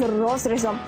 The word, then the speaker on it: розрізом: плісе або плісерована спідниця з розрізом звертаємо увагу що наголос падає на перший склад спідниця із заходом російське